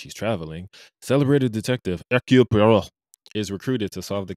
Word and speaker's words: Poirot: train on which he's traveling, celebrated detective Hercule Poirot is recruited to solve the case. Colin, did you have an issue with my pronunciation?